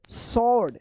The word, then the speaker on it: SWORD: SWORD सॉर्ड, सॉर्ड मतलब होता है तलवार, ठीक है ना, सॉर्ड, सॉर्ड देखिए SWORD सॉर्ड।